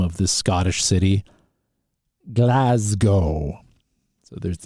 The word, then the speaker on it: Glasgow: of the Scottish City Glasgow so there's it's a z sound Glasgow not Glasgow and uh